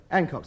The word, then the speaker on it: Hancock: Hancock's the name. H-A-N-C-H-O-C-K. The H is pronounced, and anybody who says it ain't is ignorant.